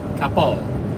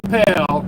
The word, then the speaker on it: Coppell: It's actually Coppell. Coppell, Texas. Not Capel. It's spelled like Capel, but it's pronounced Coppell.